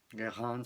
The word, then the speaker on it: Guérin: y la señora Guérin, Guérin se pronuncia en francés, se va, ¿no?